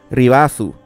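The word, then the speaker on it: リバース: La palabra Reverse en katakana se escribe como sigue y más o menos se pronuncia Ribasu.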